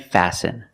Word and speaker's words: fasten: It's listen and fasten. Example, fasten your seat belt. Fasten is a verb and the t is silent.